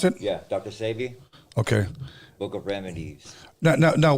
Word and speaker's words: Sebi: Is that how you pronounce it? Yeah, Dr. Sebi.